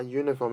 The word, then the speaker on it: uniform: use n right but uniform because this unit is pronounced as you why so we use our